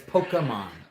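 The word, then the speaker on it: Pokémon: done my homework okay people say pokey and they get a kind of e but it's pokemon pokemon yeah the that's actually how it's the actual pronunciation pokemon pokemon yeah pokemon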